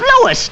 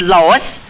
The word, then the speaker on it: Louis: the plant Lois Lois my name is Louis not Lois Chief whiz everybody in